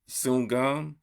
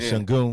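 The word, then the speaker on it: Sengun: Sungum. Oh yeah, you talking about Shangun? Shangun. I'm sorry.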